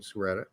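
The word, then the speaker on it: Sciaretta: He's been on our show twice, Brian Suretta. So that's how he told us to pronounce his name.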